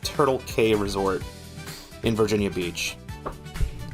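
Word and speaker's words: Turtle Cay: It's called Turtle K Resort in Virginia Beach. It's spelled K with I think the letter C. It says Turtle C A Y. Turtle K.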